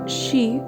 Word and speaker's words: Zi: Zi, pronounced like shi, which connects the whole body.